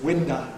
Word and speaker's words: window: Cockney schwa is pretty open anyhow, like, but it's winda, not window.